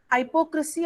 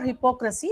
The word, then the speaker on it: hypocrisy: Hypocrisy or hypocrisy, both the pronunciations are correct. One is American and one is Brit.